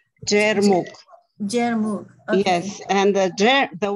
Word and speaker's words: Jermuk: I know I'm pronouncing it incorrectly. Jermuk. Jermuk.